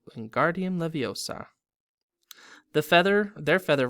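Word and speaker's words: Wingardium: Hermione snap its when Guardium Leviosa making the gar nice and long you do it then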